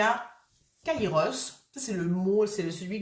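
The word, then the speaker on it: Kairos: il y a longtemps Kaïos c'est le moment juste le moment opportun donc ça s'écrit K a i r o s Kaïos et c'est être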